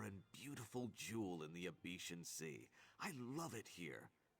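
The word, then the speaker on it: Abecean: Is that how that's supposed to be pronounced? Abetian Sea? I've been saying Abyssean. I prefer my way. Abetian just sounds so ugly. Abyssean sounds so exotic.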